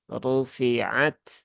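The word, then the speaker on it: رُفِعَتْ: dengan Kaf ini juga yang lebih tepat adalah huruf t yang ada di dalam pelafalan bahasa Inggris ya Jadi bukan rufi'at tetapi rufi'at rufi'at at it UT Nah jadi ada ee hembusan udara kecil yang EE ikut keluar saat huruf Ta ini diucapkan baik dalam kondisi sukun ataupun berharakat Nah itu ayat 18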